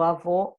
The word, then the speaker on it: avô: lembram do avô meu avô deixou de ser alguém aqui está marcadinho só a vogal para vocês avô fechado era masculino e avó aberta era feminina nosso fantasma da sensação